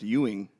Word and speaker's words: Ewan: Ewan, Huff, It's pronounced Ewing.